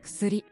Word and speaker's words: 薬: Ksuri. Yeah, you're almost dropping the U in Q. In Ku, I mean. Ksuri. You're just getting that ks sound at the beginning. Ks, like that.